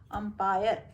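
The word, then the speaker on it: umpire: और सेम दूसरे लाइन में ही इज एन अंपायर, तो देखो यू है लेकिन इसको अपन अ से उच्चारण कर, इसलिए ये अंपायर हो गया।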